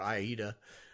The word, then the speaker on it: Aida: Because my experience had been on Aida or Aida. Cloth. That's funny. It depends on opera stitching. It depends on which area of the country you came from, how they pronounced it.